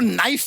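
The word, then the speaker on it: knife: जाए सलप जी आपको नाइफ word मालूम है नाइफ उसमें शुरुआत में जो के होता है वो क्या है साइलेंट आप भी रहिए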